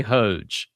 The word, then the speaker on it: Hoge: Tell tell us about Walker and is it Hogue or Hodgej or do you know? I well, you know, as is often the case on our series, I'm so used to writing these things but not pronouncing them. I say Hoge H O G.